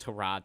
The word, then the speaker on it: Tyrod: win you oh wait it's pronounced to Rod Taylor I forgot about that